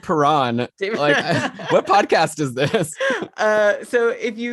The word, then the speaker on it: Perron: ryan o'reilly and david perrin are you are you laughing i'm laughing at these pronunciations and it's david perron what podcast is this